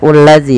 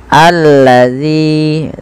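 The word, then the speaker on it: الَّذِي: ini bagaimana cara membacanya ini bukan dibaca ulladzi ya teman-teman tapi kita bacanya ketika ada Hamzah atau Alif di awal bacaan dan tanda seperti ini kita baca dengan a ya alladzi panjangkan Z dua harakat karenama thabii Hum fihi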